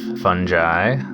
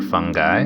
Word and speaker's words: fungi: mycology the study of fungi or fungi depending on how you like to pronounce it and cerevisiae comes from